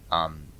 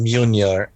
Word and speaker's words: Mjolnir: It's pronounced Mjolnir. Yeah. Mjolnir, I think. Yeah. Just forget about how it's. Yeah. Forget about how it's spelled because pronunciation has nothing to do with spelling whatsoever.